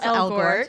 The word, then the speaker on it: Elgort: Well, we knew I'm always saying his name wrong. Ansel Elgort. Elgort.